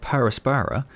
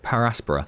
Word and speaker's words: Per Aspera: i was watching the videos was that people pronounce it para aspara i was calling it parasperra but apparently everyone else i watched immediately called it paraspora so that's what we're gonna call it going